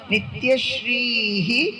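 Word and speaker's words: নিত্যশ্রীঃ: মঙ্গলখন দুটো একসঙ্গে বলছি না দুটো শব্দ আলাদা নিত্যশ্রীহি ওখানে একটা বিসর্গ আছে বিসর্গ সংস্কৃত উচ্চারণ হয় বলতে হয় নিত্যশ্রীহি পরের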